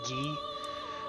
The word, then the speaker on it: Guy: okay so i think the french pronunciation is ghee uh de pontia and